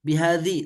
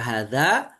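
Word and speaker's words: هذا: Bagaimana kalau kita bunyikan biadzi? Salah. Karena hadza mau bagaimanapun kondisinya tetap bacanya had min hadza rasyada. Kok min enggak dibaca hadzi? Ya tetap. Karena apa? Karena hadza itu bunyinya tetap tidak akan bisa berubah.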